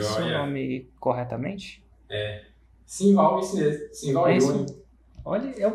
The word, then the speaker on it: Sinval: Pronunciei seu nome corretamente? Simval, isso mesmo.